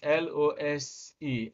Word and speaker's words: lose: a verb when you lose your money it is l o s e and the it is pronounced with z while the other one